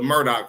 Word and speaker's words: Murdaugh: Thought I was pronouncing this wrong, too, but it's actually the Murdoch family, but not can be not to be confused with this Murdoch family.